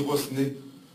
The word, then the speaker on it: Rosnay: disent René, on dit Rosnay parce que mon patron commis de l'époque s'appelait Cosnard. Donc il adorait qu'on prononce le S. Il m'a toujours dit on prononce toujours le S de Rosnay.